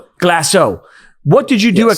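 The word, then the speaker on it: Glacéau: - Glaceau. - Glaceau, what did you do at Glaceau?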